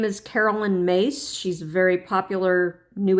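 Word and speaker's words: Myss: And that's what she wrote about, Carolyn Mace wrote about in her book. If you want to look her up, her her last name is spelled M Y SS, but it is pronounced Mace.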